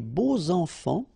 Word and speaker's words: beaux enfants: And here it's quite interesting because even if you've got this X, well, phonetically it will be like Z.